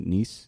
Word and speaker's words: Nese: Ari Daivari, and Tony Nese.